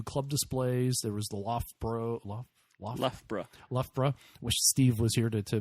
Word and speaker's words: Loughborough: There was the Loughborough, which Steve was here to make sure I say it correctly.